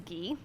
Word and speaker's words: ghee: And it's pronounced ghee.